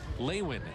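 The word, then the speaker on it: Lewin: here is leayn Diaz spells it lwi n pronounced leayn Diaz some fun power to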